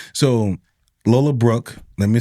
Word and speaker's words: Lola Brooke: So, Lola Brooke, let me say Lola Brooks because I said Lola Brooks and then she posted a video saying my name is Lola Brooke.